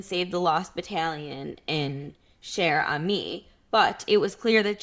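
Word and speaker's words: Cher Ami: an American citizen so I will now pronounce his name properly Sherami.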